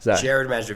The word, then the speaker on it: Gerard Majda: It's been a while in the works, but now correct me if I've pronounced your name wrong on this, but Gerard Majda? Gerard Majda, very close.